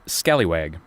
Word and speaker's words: scalawag: up as scalawag s-s-c-a-l-e it is but it's pronounced scallywag yes and i'm seeing scallywag on there as